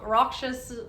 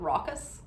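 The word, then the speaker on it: raucous: this recklessness and rock rockous rockous nature. Um, I I've said that word wrong twice today. I haven't been able to remember the right way to say it. Rockus.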